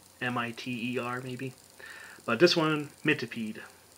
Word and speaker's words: Mitipede: call it miter m-i-t-e-r maybe but this one mint to peed my tepee however you want to pronounce it i'm going with mitipede uh so 17 racial points there they are